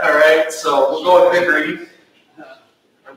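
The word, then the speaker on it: Bichri: Vickery. Vickery. That's closer to what I was. Well, in the English language, CH is pronounced in a certain way.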